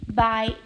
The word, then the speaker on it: by: this matrix a three by two so that X here we just call it a bi which is pronounce it as by so with three by